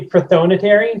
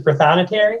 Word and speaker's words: prothonotary: in reference to um i think some people say protonatory versus prothonotary i think you could pronounce it in a variety of different ways steven shepard said ryan